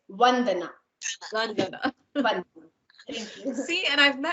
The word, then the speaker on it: Vandana: I just learned how to pronounce all of it. It's Vandana.